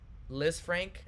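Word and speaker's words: Lisfranc: game this week interesting liz frank is how it's pronounced no worries it's usually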